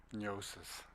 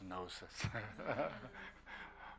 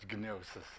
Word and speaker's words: gnosis: And uh before some of my friends and we use pron pronounce it as neosis they say no not neosis it's it's nosis but gnosis.